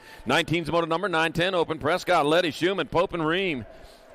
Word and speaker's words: Prescott: Mike Moranis track at Prescot Valley but it's pronounced Prescot up there all right 20's a